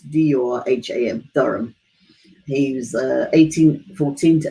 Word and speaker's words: Durham: I don't know how you pronounce it, D-U-R-H-A-M, Durham.